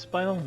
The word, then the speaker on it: spinel: i think it's pronounced spinal it is pronounced spinal okay uh also worth